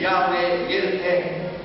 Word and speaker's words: Yahweh Yireh: Tuhan Yahweh, You should say Jehovah Jireh. Jehovah Jireh. Tuhan yang mencukupi segala-galanya. The real pronunciation is Yahweh Yireh.